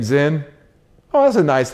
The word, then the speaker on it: Zin: Or they think it's Zen, Z-E-N, right?